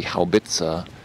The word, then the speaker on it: Haubitze: Yeah, it's funny because an English speaker would say howitzer or something like that, but in German, it's, as I understand, in German it's called a Haubitze.